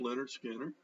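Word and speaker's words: Lynyrd Skynyrd: versions look he's got pronounced leonard skinner see that hit our junior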